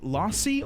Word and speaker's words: lassi: Do you pronounce it lassi or lassie? I've never had one. Never had one. It's creamy, isn't it? Milky, right? Lassie. Long a lassi. Lassie. Lassie. Lassie. You pronounce it lassi.